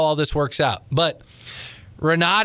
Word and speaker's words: Renaud: this works out but Renaud is pronounced were no in French and it means the Fox I almost made it you